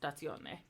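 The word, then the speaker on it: stazione: now conversation okay and it's the same with station which is pronounced statsione okay and then you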